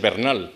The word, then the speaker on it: Bernal: pues de c'mon bernal que realmente es bernal porque la de origen español porque es inglés cambia el acento en el científico español